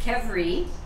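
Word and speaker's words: qvevri: the first letter q i would never have pronounced it that way but it's pronounced kevri and that was the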